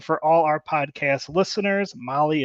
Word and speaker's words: Mahle: And for all our podcast listeners, Molly is spelt Mahle.